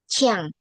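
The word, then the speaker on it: qiang: Kalau Q I A N G jadinya Chiang.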